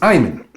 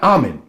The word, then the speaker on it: Iman: This is Iman, or Iman, not Amen.